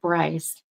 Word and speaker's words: Bryce: That could be what I'm being pulled towards, but I heard right Bryce, not Brian though. It's not like two syllable. It's just one, like Bryce.